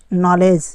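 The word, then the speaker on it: knowledge: एक ऐसा चीज़ है नॉलेज, KNOWDGE, यहाँ पर जी के पहले डी आया है तो डी साइलेंट हो गया है। वैसे तो यहाँ पर के भी साइलेंट है, लेकिन हम डी की बात करते हैं तो यहाँ पर जी के पहले डी आता है तो डी साइलेंट हो गया है, तो यहाँ पर नॉलेज पढ़ा जाएगा।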